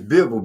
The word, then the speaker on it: Bivol: It's Bivol.